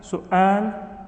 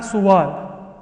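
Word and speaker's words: سؤال: This is not suwal or sawal. It's su'al. If I had written it like this, it would still be pronounced the same way. So just because you see the waw does not mean the waw is pronounced at all.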